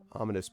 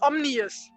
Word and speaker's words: ominous: Like, I always thought it was omnious, not ominous. Oh, Like that it was an extra I.